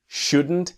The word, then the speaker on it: shouldn't: He shouldn't have made that proposal. He shouldn't have made that proposal. And then he shouldn't. That strong N, silent T, and the have becomes a.